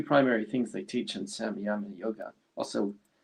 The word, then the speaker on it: Samyama: Well, what's the two primary things they teach in Samyama Yoga? Also, some people pronounce it as Sanyama yoga.